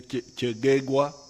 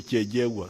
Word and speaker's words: Kyegegwa: Some of the groups say Kyegegwa, but Banyankwere with their double consonants, they say Kyejegwa.